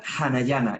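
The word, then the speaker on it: Anahyna: En realidad se pronuncia Hanayana, es una palabra en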